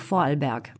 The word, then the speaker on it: Vorarlberg: le prononce ton bon moi je peux le prononcé qu en allemand donc vorarlberg bon d'accord merci cette agence est né dans